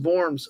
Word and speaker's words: Worms: Name most likely comes from the city of Verms in Germany, which would be pronounced Vorms.